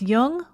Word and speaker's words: Jung: Just be sure to pronounce Jung with a hard J.